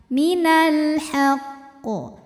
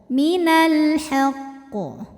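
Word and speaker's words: مِنَ الْحَقِّ: qalqalahnya ada tasydidnya ya maka dibacanya tidak seperti Qalqalah yang enggak ada tasdid yang langsung mantul Minal haqq ya enggak begitu Jadi qofnya tasdidnya itu harus tetap terbawa Artinya kita Tahan dulu baru pantulannya tuh telat ya Minal haqq Minal haqq qofnya tetap tebal di atasnya ada tanda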